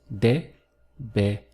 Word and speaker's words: deberías: Going through the syllables, we have deberías.